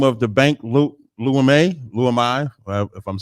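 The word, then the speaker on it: Leumi: That's the original name of the bank, Lumai, if I'm saying it wrong. Lumai.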